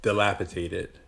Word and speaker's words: dilapidated: You said tated, and it's dated.